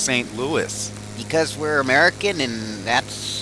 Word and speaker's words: St. Louis: Why is the city pronounced St. Louis?